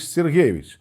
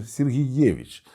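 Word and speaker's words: Сергеевич: санкт-петербургзького університету Василій Іванович сергейович точніше сергієвич з наголосом на передостанньому складі швидше за все таке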